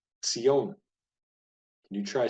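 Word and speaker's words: ציון: is the word for Zion and this is pronounced not with a z but with a Sadi a Tas sound cione can you try saying that Sione so Mount Zion the holy city part of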